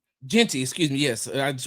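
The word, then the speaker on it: Jeanty: And so with all the eyes on Boise State, all the eyes on Gentry. Did I pronounce his name right? Genty, excuse me.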